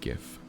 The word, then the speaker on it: GIF: I say it with a hard G. GIF.